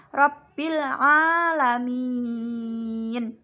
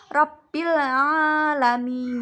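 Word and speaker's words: رَبِّ الْعَالَمِينَ: Selanjutnya pada kalimat Rabbil alamin terdapat hukum bacaan al-qamariyah karena ada huruf alif lam bertemu dengan ain. Cara membacanya yaitu jelas. Rabbil alamin.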